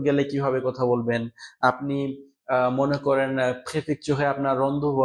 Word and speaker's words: mai: ওকে, তো হ্যাঁ, মে বানানটা ভুলে গেছি দেওয়া। সেটা হচ্ছে MA Y না, এটা হবে MAI, মে।